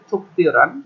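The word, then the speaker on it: 특별한: ওয়া মানে ওয়াও থুপিওরান এটা উচ্চারণ হবে থুপিওরান এই গিয়কের পর গিয়ক আসলে গিয়কটা পয়ের মতন উচ্চারণ আসে আবার রিওয়ালের পরে গিয়ক আসলে রিওয়ালটা হিয়তা জায়গায় চলে যায় উচ্চারণ হবে থুপিওরান বিশেষ বা স্পেশাল হিয়ং হমুল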